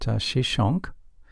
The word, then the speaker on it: Shishak: Another major military conflict involved Pharaoh Shishak, whose name is pronounced Shishonk, in the 10th century BC.